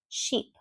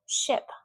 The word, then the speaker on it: ship: Sheep, sheep. But if I say ship, ship, my fingers don't move.